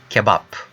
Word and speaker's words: kebap: In Turkish, it is kebap, okay? And kebab means kebab. Let's continue. Le. So same. How you pronounce the word lamp?